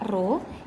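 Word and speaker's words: ρ: tekanan hidrostatis sama dengan ruh ini bacanya ru ru ini adalah massa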